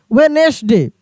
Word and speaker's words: Wednesday: यहाँ पे देखिए डी साइलेंट वाले कुछ लेटर हैं, जैसे WEDNESDAY, वेनेसडे, वेनेसडे। ऐसे आप एक बार प्रोनाउंस करा के देखिएगा, BRIDGE, इसको पढ़ेंगे ब्रिज।